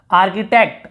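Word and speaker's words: architect: यहाँ पर फिर देखिए आर्किटेक्ट, आर्किटेक्ट आर्किटेक्ट नहीं बोल रहे, आर्किटेक्ट यानी वही होता है जो निर्माण करने वाला।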